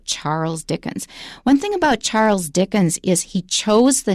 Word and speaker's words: Charles: Charles is how you say it correctly, so Charles Dickens. One thing about Charles Dickens is he chose the names of his characters in his stories very carefully.